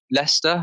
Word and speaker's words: Leicester: that that's at all it's like we've got leicester leicester in the uk yeah if you've seen it but it's spelt leicester yes it looks nothing like the how the how it's pronounced and yeah anyway sorry